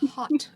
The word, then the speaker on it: haute: little bit punny yes it's marshall's hot sauce h-a-u-t-e it's hot it's hot it's hot marshall's hot